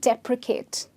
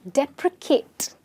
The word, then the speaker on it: deprecate: Depreciate and deprecate. Okay? Now, please pay attention to the pronunciation. Depreciate and deprecate. Okay? The C sound here is an S sound and the C sound here is a K sound.